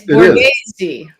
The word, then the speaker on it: Borghese: It's Borghese. Borghese. You got to throw the Italian.